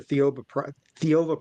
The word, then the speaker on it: Theova: about this book, the Theova Prophecy, and I think I'm actually pronouncing that pretty close to how it actually is, because I know Yeah. it sounds a lot like Jehovah, so it's Theova, the prophecy.